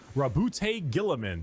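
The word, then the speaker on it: Roboute Guilliman: Primarch, Rabute Gilliman.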